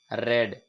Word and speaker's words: read: मैंने बताया था रीड, रेड और रेड, हालांकि तीनों को READ तीनों की स्पेलिंग सेम है, परंतु बोलने का जो तरीका है वो आपको थोड़ा सा अलग यूज करना है।